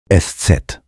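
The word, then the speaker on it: Eszett: इसका अर्थ है थका हुआ और अंत में एससेट एस सेट जर्मन भाषा का एक विशेष अक्षर है जिसे एस सेट या शफस एस कहा जाता है।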